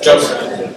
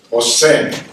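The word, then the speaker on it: José: Jose. You see where the accent is? It's Jose, J, right?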